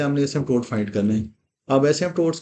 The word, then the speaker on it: asymptotes: Sketching के लिए number one सबसे पहले आपने फाइंड करने हैं एसमटोट्स। Find एसमटोट ए एस वाई एम पी टी ओ टी ई S find एसमटोट्स ये पी साइलेंट होता है इसके अंदर फाइंड एसमटोट्स एसमटोट्स